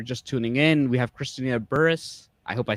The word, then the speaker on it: Christina Burruss: know if you're just tuning in we have christina burris i hope i said it right i said